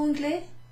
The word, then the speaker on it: anglais: Because anglais is pronounced without the E at the end, we're asking someone who is a man. Êtes-vous anglais?